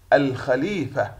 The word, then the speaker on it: الخليفة: الخليفة، الخليفة. تحوي القمرية، تكتب وتلفظ.